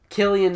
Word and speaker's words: Cillian: Executively produced by Martin Scorsese, starring Brie Larson, Cillian Murphy. Nice. Because apparently that's how his name is pronounced.